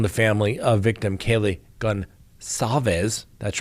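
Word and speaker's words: Gonçalves: And they are denying telling the family of victim Kaylee Goncalves, that's right, soft C apparently, almost sounds like an S, that her injuries were more brutal than those of other victims.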